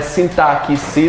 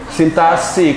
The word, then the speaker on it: sintaxe: Principalmente como se pronuncia essa palavra, não é sintaxe, não. É o quê? Sintaxe, com som de SS.